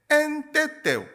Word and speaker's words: NTT: 그 섬들을 이제 엔테테, 보통 이제 영어 기호는 NTT라고 적혀 있는데 우리가 발음하기로는 엔테테라고 하는데, 이제 엔테테 지역에서 저는 또 선교 사역을 하고 있습니다.